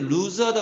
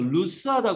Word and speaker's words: loose: 이런 식일 때 루즈하다 그러는데 그건 잘못된 발음이에요. 루스하다 그래야 돼요.